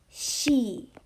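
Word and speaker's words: し: a unique one so this one does not make a c sound it actually makes a she sound so this is unique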